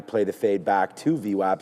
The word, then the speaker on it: VWAP: Whenever there's the gap, we play the fade back to VWAP. So gap VWAP, it rhymes.